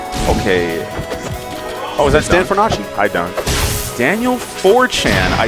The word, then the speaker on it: Fornace: It's a weird pronunciation. It's Fornace. That's not right at all. Yes, it is. Versace, Fornace.